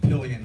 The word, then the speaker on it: Pillion: My name's Pillion. The last name rhymes with million.